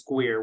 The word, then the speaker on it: GUIRR: I was going to say, if you Google GUIRR, which is, we pronounce that as GUIRR, which is a Government University Industry Research Roundtable.